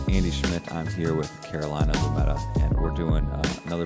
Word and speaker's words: Carolina: yeah my name is Carolina uh yes pronounced like North or South no not named for